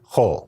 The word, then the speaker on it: Hol: the week are considered whole and to be clear that's pronounced kind of like whole milk or the whole Megillah except you get it when you say it Oh whenever you're speaking